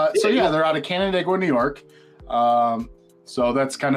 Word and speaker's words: Canandaigua: I'm gonna do my best to pronounce this. Canandaigua, New York.